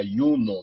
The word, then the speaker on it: Juno: do Deus Júpiter ah nessa época o i e o J eram pronunciado da mesma forma na realidade eram pronunciado como i o o J era pronunciado como I seria yuno na realidade por isso unios né